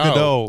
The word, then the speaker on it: Gadot: The big, wait, how do you say Gal Gadot? Gal It's Gadot. It's close. Yeah.